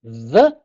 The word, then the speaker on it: ye: we always say, oh, ye old inn, ye old fish and chips, etc., etc. It wasn't pronounced Y, it's a printer's thorn, and it's a shortcut for saying TH. Blessed be the man that spares these